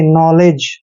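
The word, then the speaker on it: knowledge: है clear next word के एन ओ डब्लू एल ई डी जी ई दोस्तों यहां पर ध्यान रखिए एन से पहले के साइलेंट रहेगा तो एन ओ डब्लू का उच्चारण करते हैं नो और एल को पढ़ते हैं ले और ई को ए की मात्रा पढ़ते हैं जब भी जी से पहले डी आता है डी वहां हमेशा साइलेंट होता है और जी का उच्चारण ज करेंगे नलेज नॉलेज मींस होता है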